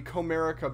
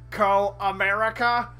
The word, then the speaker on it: Comerica: call in one of the Comerica Bank machines but she would always call it in as Karl America so yeah it's pretty it's pretty good love love those mispronunciations I do got a